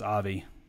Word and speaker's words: Ivy: ivy says remember my name is pronounced avi yeah i've i be